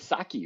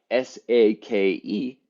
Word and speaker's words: sake: be difficult for me everybody says saki right that would be that would be s a k i right which is wrong s-a-k-e is sake yeah that's right so